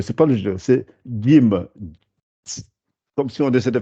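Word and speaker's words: جيم: alors, pour expliquer ça, il faut essayer de penser si on avait écrit un D et un J. Si on écrivait ça et qu'on demandait de prononcer. Voilà, le D et le J. Jim.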